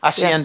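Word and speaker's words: hacienda: Aciendas. H is silent Spanish. Aienda.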